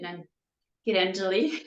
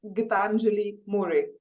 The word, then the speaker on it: Gitanjali More: very warm welcome to then get Angelique I'm so happy to have you in my video cast today hi Anita good morning thanks for having me so it's pronounced gitanjali Murray gently um it's a great